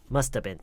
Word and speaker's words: must have been: must have been 빠르게 여름 처리하다 보면은요. 그냥 must have been. must have been. 이 v 발음이 거의 그냥 묵음 처리가 돼요.